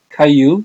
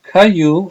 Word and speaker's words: Caillou: from Canada it's called Caillou it's a French name so a lot of letters are not pronounced so Caillou is actually a long-running